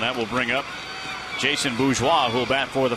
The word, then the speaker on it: bourgeois: It is fun to say bourgeois. B-O-U-R-G-E-O-I-S. You know how I spell that? B-O-O-Z-W-A-H.